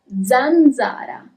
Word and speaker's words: zanzara: Okay, is it a little bit more clear how the letter S is pronounced in Italian? It's S, okay? And now let's see letter Z, Zeta. For example, zanzara.